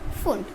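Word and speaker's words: Pfund: Equals to 5 हमारा फुंड के लिए होगा। ये जो आपका p है ये क्या है, साइलेंट है, इसमें इसको हम फुंड सीरीज़ बोलते हैं।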